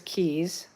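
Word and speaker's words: Cay: Like, for instance, Disney's Castaway is Castaway Key. It's C-A-Y. Celebration Key is K-E-Y.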